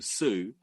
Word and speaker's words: Tsu: come into nursery and no one could pronounce my name my surname Sue I so I was told by my parents to tell everyone your name is TSU so I thought my